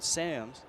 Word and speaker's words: Sams: Sams spells his last name S-A-M-S, and some in the States call him Sams. But in the Netherlands, it is Sams.